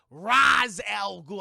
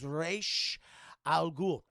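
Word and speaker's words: Ra's al Ghul: __ ] reveal chat roz l gould i went that is not how you say his name his name is reish al ghul i like this chat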